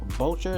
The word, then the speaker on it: Boucher: But you want to get some more savings, I like Chris Boucher, that's how you pronounce it.